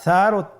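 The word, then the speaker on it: ث: ছিল 2টি নোক্তা, আর সারও 3টি নোক্তা রয়েছে, সেটা হলো তার উপরে। তাহলে 3 নোক্তাওয়ালা হরফটিকে কি বলে? সা। আবার বলুন সা। সা হরফটি বারিক মানে পাতলা করে উচ্চারণ করতে হবে।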